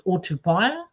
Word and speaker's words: Otupaia: people can actually grip that it's Otupaia, and yeah, that's how you pronounce it.